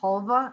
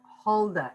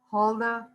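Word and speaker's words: Hulda: look this one up is that spelled halva no it's spelled halda h-u-l-d-a holda clarke halda okay let's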